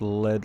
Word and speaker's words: lead: He's saying in Discord it's pronounced lead like the metal.